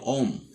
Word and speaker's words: ওহম: তো ওহমের সূত্রর এই নামটাকে একটু সংক্ষেপ করে আমরা হ অক্ষরটাকে বাদ দিয়ে উচ্চারণ করব হলো ওম।